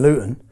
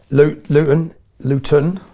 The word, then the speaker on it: Luton: Luton, we don't pronounce our T's in Luton, but Luton is 30 miles north of London.